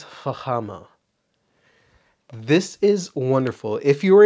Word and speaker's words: Fama: talk about Fama so if you want to pronounce it in the Western Way Fama but this is Fama this is wonderful if